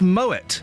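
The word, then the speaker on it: Moët: It's pronounced moet and shandor.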